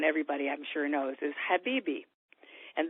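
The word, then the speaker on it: حبيبي: I'm sure knows is Habibi. And the first H, by the way, is pronounced ha. Think of sighing about your loved one. Ha, and you have the right sound. It's Habibi means my love, talking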